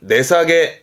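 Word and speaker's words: 値下げ: 발음은 내사게.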